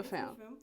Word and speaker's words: Femme: Because I never want to mispronounce it. Yeah. Femme.